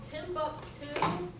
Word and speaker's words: Timbuk2: They're called Timbuktu. Oh, yeah. You can go on their website. It's spelled TIMBUK2.